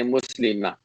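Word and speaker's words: مسلمة: end of a word, if you stop after pronouncing that word, you don't pronounce the ta. You say muslima.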